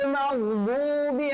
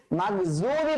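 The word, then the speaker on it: مغضوبِ: তো এখানে আমরা দেখিয়েছিলাম যে আমরা সূরা ফাতিহার শেষে যে উচ্চারণটা আছে, গায়রিল মাগদুবি আলাইহিম, গায়রিল মাগদুবি আলাইহিম ওয়ালাদ-দাল্লিন, এখানে কিন্তু দদের ব্যবহার আছে। তো দদটা কিন্তু মাগজুবি বলা যাবে না, মাগজুবি বলা যাবে না, ওয়ালা যালিন বলা যাবে না।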